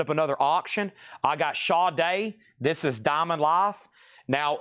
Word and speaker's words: Sade: I got Shaw Day. This is Diamond Life. Now, if you didn't know this, anybody on Earth would pronounce this sade, right?